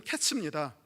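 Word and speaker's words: קֵץ: 그게 무슨 뜻이냐면 여름 과일은 케이치라고 하고요, 끝은 캐츠입니다. 네가 케이치를 보느냐? 이 백성의 캐치가 곧 왔다라고 하는 것이에요. 네가 여름 과일 한 광주리를 보느냐? 이 백성의 끝이 이르렀도다라고 얘기를 합니다. 여름 과일 광주리하고는 끝하고는 상관이 없지만 발음의 유사성 때문에 그렇게 가져온 것 같습니다.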